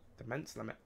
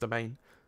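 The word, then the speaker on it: demesne: anyway because of my DeMent also the main limit I've been told it's pronounced the main I'm being stupid it is pronounced domain sorry for being a big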